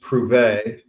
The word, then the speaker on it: Prouvé: at number 9, and that is pronounced Prouvé, which I think is French for prove.